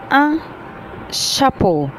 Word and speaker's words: chapeau: عندي كمان تحت un chapeau, un chapeau يعني قبعة.